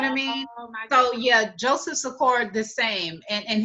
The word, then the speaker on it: Sikora: So yeah, Joseph Sikora the same, and his last name rhymes with LaCora.